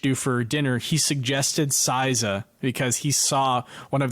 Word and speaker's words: Saizeriya: Is that how you pronounce it? ICSOIZERIYO. Saizeriya.